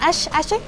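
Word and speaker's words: Ashe: Bueno, es que no sé cómo lo pronuncian. Ash está perfecto. Ash, para mí. Bueno, yo le digo Ash.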